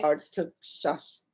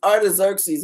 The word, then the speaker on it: Artaxerxes: Artaxerxes. That. Did you hear her? It's Artaxerxes in the 66.